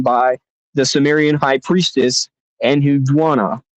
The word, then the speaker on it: Enheduanna: the Sumerian high priestess Enhudwana, or I guess is how you would pronounce it.